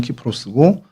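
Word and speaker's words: Κύπρος: 오늘날에는 키프로스라고 그 본토 발음은 키프로스고 또 영어로는 사이프러스라고도 이제 발음을 합니다.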